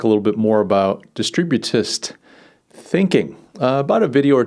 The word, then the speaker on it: distributist: And I struggled with the word distributist. I was like distributivism, I was like throwing a V in there. But it's distributist thinking.